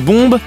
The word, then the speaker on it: bombe: En effet, la dernière consonne du mot « bombe » ne se prononce pas en français, ce qui fait que l'intérêt de la blague disparaît complètement.